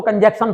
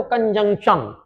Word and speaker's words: conjunction: इस वर्ड के प्रोनाउंसिएशन पर मैं थोड़ा सा जोर दूंगा क्योंकि ज्यादातर जो पढ़ने वाले हैं अंग्रेजी को वो इसको कंजंक्शन पढ़ते हैं। तो यहां पे ध्यान रखिएगा, जंक्शन, जंक्शन में कन जोड़ना है तो कंजंक्शन, कंजंक्शन, इस तरीके से इसका प्रोनाउंस करना है।